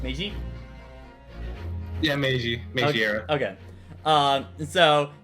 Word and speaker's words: Meiji: game stars phoenix wright's ancestor around the uh mejai era of japan and is completely separate from the mainline ace of 30 series so you don't have to play period yeah uh meiji uh period pronounced meiji yeah meiji okay um so y'all have to